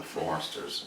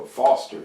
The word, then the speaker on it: Foster's: Not the Fosters. No, not the Foresters. It was before the Foresters. No, Foster. You're saying Forester.